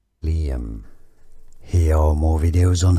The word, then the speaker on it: Liam: Liam, 2 syllables. Li, a stress on this Li syllable. Liam.